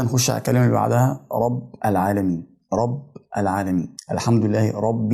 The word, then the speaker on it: رب العالمين: الحمد لله رب العالمين الراء في كلمه رب مفتوحه والباء مكسوره رب العالمين الكسره اللي في حرف الباء الاخير في كلمه رب مع الالف كلمه العالمين بقربهم من بعض في النطق بحيث ان هم يتلزقوا في بعض حاجه كده انجاز